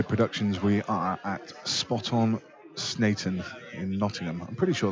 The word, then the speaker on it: Sneinton: knowledge in it so he said it was snan and we're watching Mark boy against Clint ianson